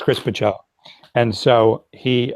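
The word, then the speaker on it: Bachalo: Yeah, you did mispronounce it, but I didn't want to correct you. Pacello. No, I appreciate it. Okay, yeah. So it's Chris Pacello.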